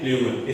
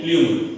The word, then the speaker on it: plumule: तो जो ऊपर की तरफ हिस्सा जाता है उसको प्ल्यूमुल कहते हैं। क्या कहते हैं? प्ल्यूमुल। स्पेलिंग देखो, PLUMULE, प्ल्यूमुल, है ना, जिसको हम ऊपर कोम्पल कहते हैं, अखुआ कहते हैं, है ना, अखुआ।